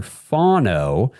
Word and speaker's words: Fano: Last episode, I've been corrected since. It is Spencer Fano.